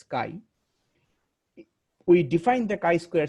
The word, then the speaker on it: chi: way we Define the Ki Square test Kai CH I it is pronounced as Kai we Define the kai